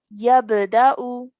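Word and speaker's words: يَبْدَأُ: So all together, this will be yabda'u. yabda'u, Brilliant. Well done. Okay, one more time by yourself. yabda'u, Excellent. Good. Yeah. So we're only pronouncing the Hamza with a Dhamma on top.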